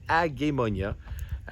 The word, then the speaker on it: Agemonia: Et oui, il faut le prononcer Agemonia, qui est un gros